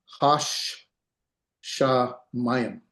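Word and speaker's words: השמים: You pronounce this hash sha mayim.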